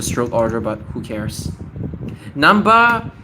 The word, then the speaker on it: Namba: Namba, it's hard to write, right? You might even mispronounce it as like nanha or nan, right?